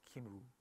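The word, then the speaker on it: Cymru: I think this is pronounced Kimru, from Team Kimru.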